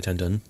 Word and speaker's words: Tan Dun: the music for the film was composed by Tan Dun is that how you say his name oh it's a tendon yeah I mean Oscar winner right for Crouching